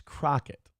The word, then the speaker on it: Crockett: see a lot of people mispronouncing her name, putting an I instead of an O. It's Crockett.